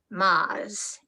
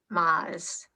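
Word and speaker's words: Moz: to the first syllable, which sounded to us like Maz M-O-Z. And that was the beginning, more than 63 years ago. And it was our special name to each other ever since, Maz.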